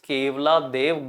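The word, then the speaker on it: Keoladeo: One is Keolado Ghana National Park. Here locally it is pronounced as Kevla Dev Ghana National Park. Kevla Dev, there is a temple, Keval Dev.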